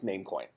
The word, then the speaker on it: Namecoin: they come up with it's not num coin it's namecoin why did they come